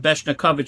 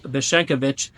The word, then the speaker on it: Beshenkovich: Last week I pronounced it Beshnikovich, so excuse me for pronouncing it wrong. Avram Zev of Beshenkovich.